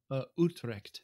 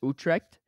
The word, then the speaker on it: Utrecht: I don't know how to pronounce it. I apologize. It's Utrecht. Utrecht.